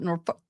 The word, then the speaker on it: Norfolk: in concert with the Norfolk I keep want to call it Norfolk uh which is how they say it DA's attorney Massachusetts state